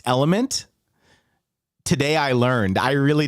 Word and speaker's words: LMNT: about um uh yes lmnt is pronounced element today I learned I